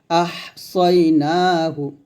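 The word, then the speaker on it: أحصيناه: ওয়া কুল্লা শাই ইন, হামজা হা জবর আহ, সদ ইয়া জবর সই, আহ সই, সদ উচ্চারণ মোটা হবে, নুন খারা জবর না, এক লিফ টান, হা পেশু, আহ সই না হু।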